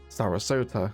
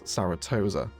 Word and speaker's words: Sarasota: And um quite hilariously last episode I pronounced Sarasota as Saratosa.